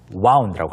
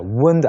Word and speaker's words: wound: 과거형은 네, wound라고 합니다. wound 아닙니다. That's right.